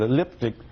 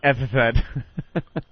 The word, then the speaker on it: epithet: If he meant epithet, that is the funniest mispronunciation I've ever heard in my life.